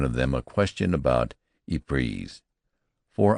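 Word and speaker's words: Ypres: them a question about ipreeze for I pronounced the name French fashion which put me under suspicion as a swanker don't try to come at son he says say wipers that's what we calls it henceforth it was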